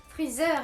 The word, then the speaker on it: Freezer: Et ensuite donc Freezer, je vais le prononcer à la française vu qu'il est écrit à la française. Freezer est considéré comme l'empereur du mal.